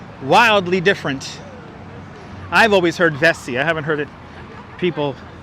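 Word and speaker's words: Vesey: used to live downtown they always called it vessie street but I've heard of vesser and I've even people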